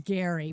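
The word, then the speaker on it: Gerry: Well, it's Gary, but it should be Jerry the way it's Yeah. the way it's spelled.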